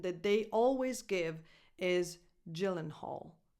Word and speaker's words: Gyllenhaal: But they go by Jake and Maggie Gyllenhaal. And they always pronounce it that way, Gyllenhaal, maybe except when they are in Sweden, I don't know. But the correct English pronunciation that they always give is Gyllenhaal.